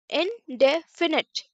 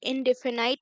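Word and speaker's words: indefinite: Simple, सही से pronunciation कीजिए, सिंपल। और इनडेफिनिट, इनडेफिनिट, इनडेफिनाइट नहीं, इनडेफिनिट नहीं, इनडेफिनिट, इनडेफिनिट, इनडेफिनिट, इनडेफिनेट, इनडेफिनेट present tense.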